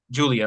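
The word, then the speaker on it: Giulia: It Okay, it's spelled different. it is. It's I spelled like think G she's I from U L I Japan. She's A. from somewhere over that way. But She just they spells it all differently.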